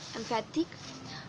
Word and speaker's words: emphatic: the second one implicit, on the second one emphatic, on the second one and happy.